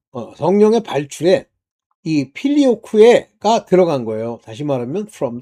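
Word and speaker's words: Filioque: 근데요 아들의 위격이 하나님과 동일하다는 걸 부인한 첫째 사건이 뭐냐면 필리오쿠에 사건입니다. 쿠에는 Q자에다이 2이가 붙어서 에라고까지 붙여야 되는데 뭐 걔네들이 발음하는 식으로 필리오쿠 뭐 이렇게 했는데 필리오쿠에가 이제 정확한 발음이라고 전 봐요. 라틴어 발음으로 바로이 사건으로 동방정교회와 서방 카톨릭 교회가 분열이 됩니다.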